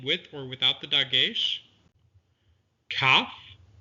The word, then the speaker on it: Kaf: Kaf is pronounced with the dagesh, k, or without the dagesh, ch, that grinding sound at the roof of the mouth.